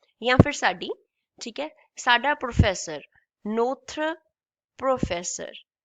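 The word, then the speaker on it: notre: Notra professor. This is n o t r e. This is called notra.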